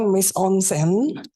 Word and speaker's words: mise en scène: Yang pertama ada tulisannya mise en scène, tapi bacanya mise en scène.